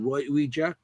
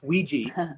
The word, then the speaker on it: Ouija: Ouija. It's Ouija. That's the actual pronunciation for it.